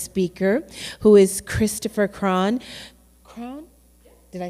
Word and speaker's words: Cron: Cron?